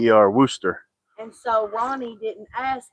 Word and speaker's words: Worcester: It's Wooster. Worcester.